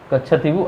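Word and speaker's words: Kachchatheevu: Spelling होगा इसका KACHATHEEVU, कच्छाथीवु Iceland, ठीक।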